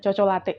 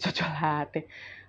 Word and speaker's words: Cocolatte: Nah, jadi pilihanku itu jatuh ke mereknya namanya ee benar enggak sih bacanya Cocolate? Chocolate. Aku bilang coklat. Tapi kalau coklat kan e choco ya, ada h-nya jadi chocolate chocolate ya.